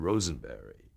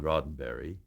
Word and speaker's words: Roddenberry: i'm george takei here to meet uh mr rosenberry and you know you're nervous enough as you